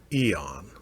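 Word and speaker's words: Aeon's End: And that is pronounced Eon.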